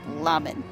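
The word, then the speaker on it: Lhaminn: It's spelled L-H-A-M-I-N-N. Lamin. I guess.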